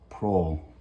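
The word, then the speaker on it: Proulx: e annie pro p-r-o-u-l-x pro i'm supposing it's pronounced it can't be pokes i'm sure that people say it wrong all the time it just doesn't make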